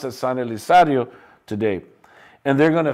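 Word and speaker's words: San Elizario: Today it's pronounced as San Elisario today.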